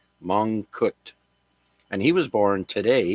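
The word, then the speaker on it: Mongkut: for me but the first person's name is mut that's spelled m o n g k u t mut and he was born today in 1804 now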